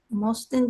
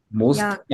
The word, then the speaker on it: möchten: 신보혜 씨, Möchten Sie zuerst etwas trinken? 모스텐이 아니고 möchten.